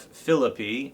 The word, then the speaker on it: Philippi: the ancient city of Philippi, as they pronounce it in Greece.